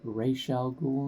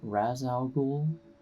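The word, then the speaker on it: Ra's al Ghul: you go completely I gotta say that it's pronounced racial ghoul not Raz al Ghul and also I watched this film with my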